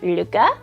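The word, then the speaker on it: Lykke: different ways but I do believe the correct pronunciation is Luca it's l y k k and it's the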